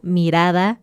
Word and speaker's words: mirada: También cuando tenemos una R en medio de una palabra, entonces también es suave, como mirada, sartén, barba.